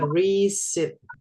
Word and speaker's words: receipt: And then the next one, nah ini bacanya receipt.